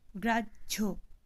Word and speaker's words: গ্রাহ্য: আবার দেখো, গ্রাহ্য, এখানে কিন্তু ধ্বনি কীরকম উচ্চারণ হচ্ছে, বর্গীয় জ ও ঝ একসাথে উচ্চারিত হচ্ছে।